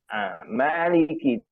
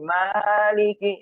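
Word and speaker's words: مَالِكِ: Maliki. Di sini ya ma-nya dipanjangkan 2 harokat. Ada beberapa imam masih maliki maliki ya. Ma 2 harokat saja juga. Jangan panjang maliki ya. Salah juga ya.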